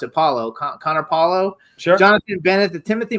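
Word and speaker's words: Connor Paolo: So, Connor Po, how do you pronounce it? Paulo Connor Paulo.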